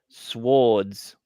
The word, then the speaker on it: sword: right Mason you got swords awesome Swords swords in American SWS what why would you say swords it's pronounced sword because we dropped the W for some reason everyone